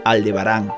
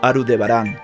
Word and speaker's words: Aldebarán: Estrellas de su constelación Entonces nosotros lo escribimos y pronunciamos correctamente aldebarán no arudebarán el problema que menciono